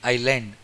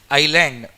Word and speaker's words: island: Island. Silent. See here? S is silent here. Island.